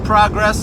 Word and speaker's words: progress: Progress and progress. Progress is a noun. We're making progress. Or if you want to use it as a verb, it's progress.